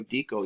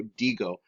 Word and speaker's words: digo: You can say it like yo dico. No, not yo dico. Yo digo.